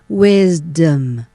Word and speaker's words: wisdom: นะ คะ เรา จะ พูด ดัง นี้ ค่ะ Wisdom Wisdom นะ คะ ต่อ ไป นะ คะ คำ